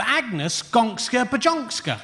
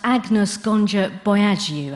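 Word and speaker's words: Agnes Gonxha Bojaxhiu: She was christened with the unlikely name of Agnes Gonska Bajonska. No, it's pronounced Agnes Gonja Boyagiu, actually.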